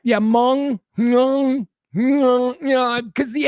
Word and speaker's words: Hmong: It's pronounced Hmong. Adam, is that what you're saying? All right. Yeah, Hmong. Because the H, I'm guessing the H is silent, or at least, influences in a different way.